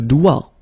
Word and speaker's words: doigt: Le doigt, le doigt, okay, so don't be frightened by this G because basically you don't pronounce it and then the final T you don't pronounce it. So the only thing you get to pronounce